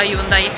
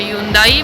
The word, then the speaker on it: Hyundai: Poi si passa il Conrad, che è un hotel, dopo l'hotel ci sta il centro commerciale della Hyundai. In coreano, tra l'altro, non si dice Hyundai ma si dice Hyundai.